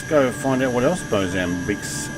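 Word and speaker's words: Moçambique: find out what else bosambic's good for uh it's a portuguese pronunciation okay country located yeah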